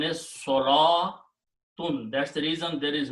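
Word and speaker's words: صلوٰة: Salatun is a feminine word. Okay. Number two, this waw is not pronounced. Okay. So the pronunciation is salatun.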